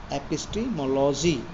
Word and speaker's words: epistemology: So next इसमें क्या है बच्चों, एपिटोमोलॉजी, ये वर्ड है, इसको अच्छे से ध्यान रखना, स्पेलिंग इसकी EPISTEMOLOGY, एपिस्टीमोलॉजी.